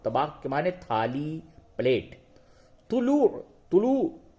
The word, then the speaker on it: طلوع: طلوع. طلوع، تو پیش تو، لام و پیش لو، عین ساکن، طلوع.